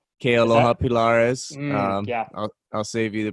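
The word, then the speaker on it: Kealoha Pilares: And Kaloa Pilaris? Kealoha Pilaris. Yeah. I'll save you the pronunciation there, but yeah, Kealoha Pilaris.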